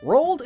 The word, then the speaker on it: Roald: reach both poles and it rhymes with cold which is where penguins live Robin Rocko is possibly